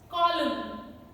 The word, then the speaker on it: column: sound is pronounced and N sound is not pronounced in MN combination. Autumn, autumn, dam, column, solemn, condemn.